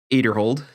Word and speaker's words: Aderhold: For our feature card, we had Ezra Aderhold, which I found out that's how you say his last name. We've all been saying it wrong last year.